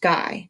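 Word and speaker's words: Gey: patients so he called george guy pronounced guy head of the tissue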